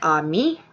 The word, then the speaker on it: Ami: of a disabled mom my name is actually Amy was spelled am i and it's actually pronounced on me and french i guess my mom had a thing for french at the time and it means friend that might be why